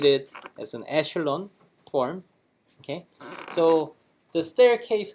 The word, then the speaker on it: echelon: think it's in French or something okay it's pronunciate it as an echelon form okay so the staircase kind of shape